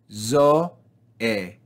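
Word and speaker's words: ζωή: So we separate them into 2 separate syllables, zo-e, zo-e. And you can see again the grave accent telling us to fall down on the second syllable, zo-e.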